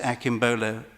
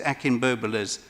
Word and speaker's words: Akinbobola: There were some people outside the other night that Mrs. Akinbola, I keep pronouncing it wrong, Mrs. Akinbobola's was concerned about.